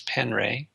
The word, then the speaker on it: Penre: His last name is spelled Penre, Wes Penray.